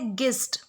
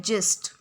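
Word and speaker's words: gist: सो पहला वर्ड है गिस्ट। गिस्ट बोलेंगे या फिर जिस्ट बोलेंगे? सो जो करेक्ट प्रोनाउंसिएशन है वो है जिस्ट।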